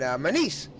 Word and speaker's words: Menez: Oh my goodness, he told me how to say his name. And Menez, Michael Menez.